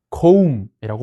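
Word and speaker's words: comb: 이거는 또 거음이라고 발음해요.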